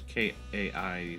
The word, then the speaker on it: Kai: Later on, he said it was Kai, pronounced it kind of like Koi.